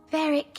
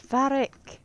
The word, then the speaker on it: Varric: It's Varric, not Varric. Say his name right. It's Varric.